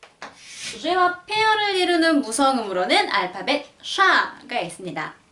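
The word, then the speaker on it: Ш: 영어의 SH 발음하고 비슷하다고 표현을 하면 될 것 같아요.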